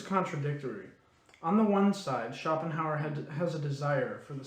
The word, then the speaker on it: Schopenhauer: i'm gonna stop you though according to schopenhauer chopin oh i can't say his name schopenhauer the man of knowledge is imper imperturbable in